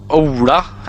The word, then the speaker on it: Ola: I know that Ola, as it's pronounced in Norwegian, is a pretty like typical the Ola Norwegian is a type of name for Norwegian.